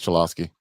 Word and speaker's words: Cholowski: White Socks, UCLA shortstop uh how do you say that name? Cholowski. Yeah, it is Chilowski.